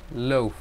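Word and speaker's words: l'œuf: the preceding the noun the egg loaf loaf pronounce something like loaf zero picture it form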